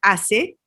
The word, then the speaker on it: hACE: Se escribe con una H minúscula para que te guíe a decir ACE, como hacer, y también es lo